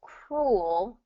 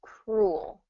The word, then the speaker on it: cruel: sound so it's only one syllable cruel o that ooh sound is just one vowel sound cruel cruel now cruel is an interesting one because it it you know oo o you have to go from that ooh to the actually more of the the the dark l o it's kind of like world has kind of that drop in the old sound cruel world kind of